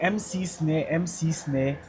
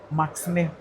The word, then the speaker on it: MC Snare: But instead of people saying the MC Snare, they pronounce it together. So it became Max Max Snare. Snare. Max Snare. But Bro. it's MC Snare.